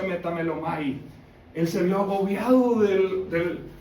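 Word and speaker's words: μεταμέλομαι: En griego arrepentido aquí habla de se en griego se pronuncia metamelomai.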